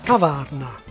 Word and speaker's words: kavárna: The Czech for cafe is kavárna, and like almost all Czech words, it's stressed on the first syllable. So the acute accent indicates not stress, but vowel length, kavárna.